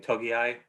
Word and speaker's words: Togiai: is it doug just told me how to pronounce his name togiai i he might be looking at like 250